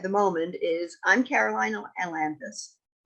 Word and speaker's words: Ailanthus: The important thing at the moment is I'm Caroline Ailanthus. Sorry, I mumbled my own name. Caroline Ailanthus. I'd added an extraneous syllable.